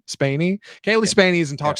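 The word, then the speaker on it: Spaeny: Spaney.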